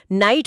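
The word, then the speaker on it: knight: अंग्रेजी की तरह नहीं, जहां के एनआई, जीएचटी को नाइट पढ़ते हैं और के चुपचाप बैठा रहता है।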